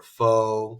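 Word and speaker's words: phở: But there's different ways to pronounce it. Pho or pho. Oh, that's like kind of the white American way to say it, I guess. But pho.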